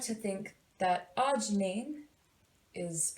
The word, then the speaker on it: arginine: like to think that arginine is pronounced arginine, and I like to say arginine is next in line.